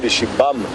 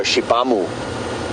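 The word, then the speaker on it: Xibamu: Shibam is a gun. Interestingly, in Shangaan, XI is pronounced she. So Shibam is spelled X-I-B-A-M-U. Kind of don't really pronounce the U at the end.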